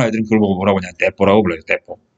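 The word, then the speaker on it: 鉄砲: 그걸 보고 뭐라고 하냐, 떼뽀라고 불러요, 떼뽀. 한자로 쓰면 철포인데, 일본 발음으로 하면 떼뽀 그러거든요.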